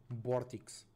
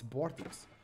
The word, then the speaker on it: Vortix: No early aggression from Vortex. Because that's how you say his name in Spanish. It's Vortex. It's not Vortex, it's Vortex. In Spanish, in around the world, it's Vortex.